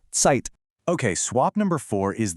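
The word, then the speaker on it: Zeit: It is always a sharp t sound. Think of the end of the word cats or the sound in the middle of pizza.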